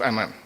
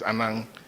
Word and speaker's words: Anang: I've pronounced his name like a guy. Anang. It's not Anang. It's Anang.